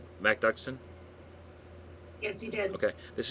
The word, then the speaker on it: MacDuckston: Did I pronounce that correctly? MacDuckston?